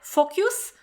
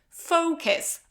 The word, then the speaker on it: focus: And now very often I hear focus or focus, okay? And this is focus. O.